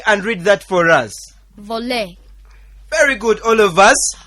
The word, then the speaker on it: voler: Voler. Very good, all of us. Voler.